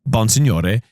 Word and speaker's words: Bonsignore: But it is a Sicilian name, so it's Bonsignore.